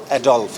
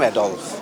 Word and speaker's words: Adolf: এডলফ। হ্যাঁ। অনেকেই উচ্চারণটা করে প্রনাউন্স করে এডলফ। কিন্তু আসলে একচুয়ালি আমার নাম অ্যাডলফ। সত্যি কথাই বলব।